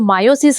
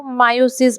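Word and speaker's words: meiosis: मायोसिस का बात है जिसको आप मयोसिस भी बोलते हो मायोसिस मेनली उसको बोलते हैं बच्चों हम लोग भी शुरू से मयोसिस मयोसिस बोलते आए थे बट बेसिकली उसको मायोसिस प्रोनाउंस करते हैं तो अगर वीडियो में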